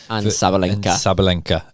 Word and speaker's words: Sabalenka: Sabalinka.